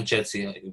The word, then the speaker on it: Jitsi: As we said, WebEx, Zoom, or Jitsi, right, Sergio? Did I say it right? Yeah, Jitsi.